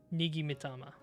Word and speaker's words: Nigi Mitama: I'm going to look up how to say this a bit better. Real quick. Alright, so it looks like Nigi Mitama.